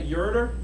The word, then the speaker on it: ureter: You actually pronounce it wrong. Yeah, ureter. Is that what you're trying to say?